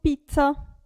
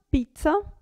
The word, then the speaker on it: pizza: qui provate danza danza qui doppia z non cambia molto pizza si sente un po di più pizza conoscete già la